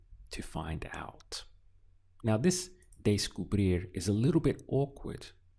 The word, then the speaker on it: descubrir: So what I find helps is if you look at the first two syllables here, we have de and sku. So if you just try to rehearse that sound in your mind a little bit, day-sku, sounds a little bit like day school, right?